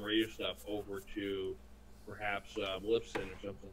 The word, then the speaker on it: Libsyn: Now, I heard you say you're moving them over to Blitzen. Lipson. How do you spell that? Libsyn.